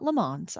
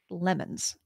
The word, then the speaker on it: LeMons: car race called the 24 Hours of lemons it's not LeMans I know how to pronounce that lemons the cars have to